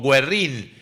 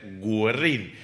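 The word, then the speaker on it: Güerrín: frente a la pizzería Guerrin o Guerrín tiene diéresis, así que debería ser gerrín.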